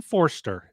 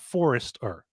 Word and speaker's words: Forster: They pronounce Tyson Forster is 2 syllables. Forster. It's not Forrester. It's not a Forrester. It's not someone who forests. It's Forster.